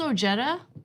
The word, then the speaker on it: Ojeda: yeah it's West Virginia it's O Jetta no I've had him on the show two times okay maybe three so but like it's pronounced like that be just because of